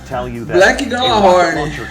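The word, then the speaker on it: Gjallarhorn: Galahorn! Hey, Galahorn! If you don't know yet, it is my profound pleasure to tell you that Black a Galahorn.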